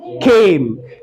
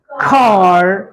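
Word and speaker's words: car: ए एम E Khem Khem Khem और बताओ कुछ ख वाला वर्ड सी ए आर हां ब्रिटिश में इसको पढ़ेंगे खा ख खा और अमेरिकन में खार खार खार ार बात आ रही है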